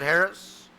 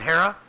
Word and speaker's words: Hara: This is David Harris. David Hara. Keep saying his name wrong. If you say something 3 times, that's just all you'll remember it. So I've said his name wrong 3 times, and now it's a habit. So I apologize, David Hara. Hara, I believe.